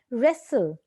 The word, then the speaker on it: wrestle: So the silent letter is K. Wrestle, W.